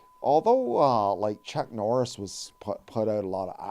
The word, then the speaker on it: Li: Actually pronounced Bruce Lee, like Li, but most people pronounce it Bruce Lee because it is a lie.